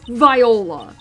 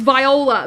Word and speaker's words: Viola: that it's like it's Viola Viola think of violin Viola I will [